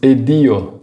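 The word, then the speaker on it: ed io: Adicionamos o d para facilitar a pronúncia. Dessa maneira, ao invés de dizer e io sono, a gente diz edio sono, que deixa a frase muito mais fluida.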